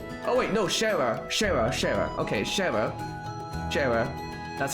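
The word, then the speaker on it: Schera: Okay, Shara.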